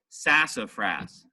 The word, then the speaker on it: sassafras: the second accent suit sass gets the heaviest sassafras grass is less than the sass but it's more than the FRA are apart all right so it's sassafras so Fras still gets